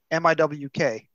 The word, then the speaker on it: Miwk: uh posted it one at one time it's pronounced miwk I say I've been saying moo in my head for years but I have